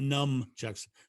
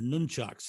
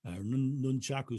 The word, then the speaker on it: nunchucks: are they and i i always pronounce them wrong because we used to all used to call them numb nuts for very specific reasons so they're not num chucks they're nunchucks is what they are nunchaku sticks